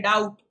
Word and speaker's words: doubt: A silent B, okay, doubt, debt.